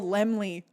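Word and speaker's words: Laemmle: The only thing I got wrong was the pronunciation of everybody's name. His name is Carl Lemley and I made a 4-hour long video and an hour and 50 minutee long video where I called him lamel the whole time.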